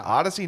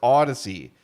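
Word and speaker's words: Audacy: shot at Odyssey, and that's bonus points.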